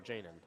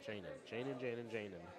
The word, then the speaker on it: Jaden: Jaden. Like jaded. I got you from here on out. Jaden.